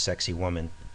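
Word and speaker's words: Sacsayhuamán: of course sexy woman sounds like it's pronounced sexy woman which is why I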